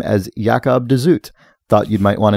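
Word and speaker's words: Jacob de Zoet: of the Thousand autumns of uh Jacob dooit pronounces the name as yakob dut thought you'd might want to know after the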